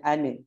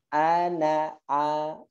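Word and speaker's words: أنا: Jangan sampai salah ya bacanya, jangan ane tapi apa? Ana.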